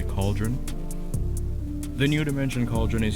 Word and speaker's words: Khalderun: new dimensional portal cauldron i'm assuming his cauldron is i pronounce it calderon at first i thought it sounded like calderon but it's apparently cauldron the new dimension cauldron